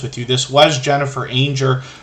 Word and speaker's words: Anger: This was Jennifer Anger, Rhymes with Danger, but they changed the name of the channel a while back.